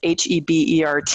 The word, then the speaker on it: Hebert: And for those listening, it's Hebert, a little French pronunciation.